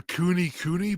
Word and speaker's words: Kune Kune: I wouldn't mind getting a cooney pig. So they're like hairier. They look like a dog pig. Nice. Yeah. How do you spell that? It's Kune Kune. Cooney. Cooney. Wow, it really is Cooney.